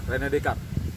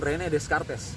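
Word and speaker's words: René Descartes: Descartes tapi kalau kalian jangan baca seperti itu bacanya Rene De descard gitu aja Rene decard jangan Rene Descartes kelihatan cupu Entar ya pesan saya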